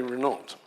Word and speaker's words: Renault: strong woman namely uh Mary Reena and that by the way is how I believe she pronounced this um n de plume Mary Renault if you read David sweetman's biography I hadn't known this before I'd always called her Mary Rena um she allegedly called